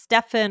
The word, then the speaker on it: Stephen: Right, and sometimes the PH is pronounced Stefan, it gets confusing.